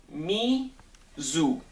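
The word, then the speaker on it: Nezoo: a company that was 2004 it was called me zoo that's how it's pronounced n-e-z-o-o this is jack the ripper it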